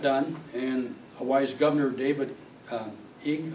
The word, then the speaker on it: Ige: But it finally got done, and Hawaii's Governor David Ige, I think it's pronounced I-G-E, Ige, thanked the top court, saying he thinks that the decision was fair.